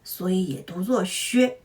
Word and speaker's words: 削: Here, “weaken” means their confidence decreased, which is an abstract meaning, so it’s pronounced “xuē.”